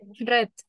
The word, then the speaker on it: read: spell l in past red oh how do you spell spell the word for me please oh okay r r a d so similar to the present but the pronunciation changes yes or no so you